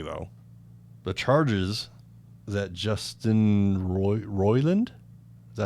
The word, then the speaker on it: Roiland: Apparently, though, the charges that Justin Roiland, is that how you say it?